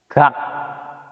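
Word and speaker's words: 각: Ini baru dibacanya K. Kalau di sini di konsonan awal giok ini dibacanya G. Kalau akhir dibacanya K.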